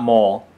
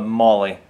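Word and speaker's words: MOLLE: So M O L L E, but it seems to be pronounced not mole, but Molly.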